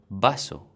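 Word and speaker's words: vaso: have to know that the V in Spanish is plans like be the same sound so ba bay bee boo boo for example be beer which means to live or Basso which means glass like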